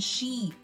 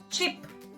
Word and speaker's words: sheep: is the vessel and sheep okay so if we pronounce sheep which is the animal as chip okay short short sound uh this might affect